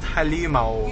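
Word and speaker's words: halimaw: I don't know it's it's just pronounced halimao yeah oh like it's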